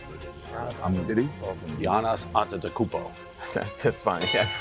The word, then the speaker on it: Giannis Antetokounmpo: How do you pronounce it? Giannis Antetokounmpo.